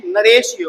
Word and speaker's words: narratio: ये जो वर्ड आप देख रहे हो इसको प्रोनाउंस करते हैं नरेशियो, और ये एक लैटिन वर्ड है, प्लीज ध्यान रखिएगा, ये एक लैटिन वर्ड है।